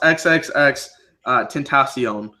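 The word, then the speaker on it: XXXTentacion: it's a rapper name it's pronounced xxx tint accion I have no idea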